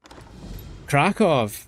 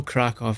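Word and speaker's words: Kraków: No, but I know the W is like V. Like I know Krakow.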